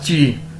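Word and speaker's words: 几: पहला वर्ड है हमारे पास ची, जे आई ची। प्रोनाउंस इसे कैसे करेंगे? ची, ठीक है, और मतलब है इसका हाउ मैनी।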